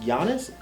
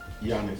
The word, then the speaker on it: Giannis: freestyle shit, half main, half cocaine, palm olive, flat tummy tea, and is it pronounced Giannis? Giannis. Giannis, yeah. That's why he said the G is silent like Giannis.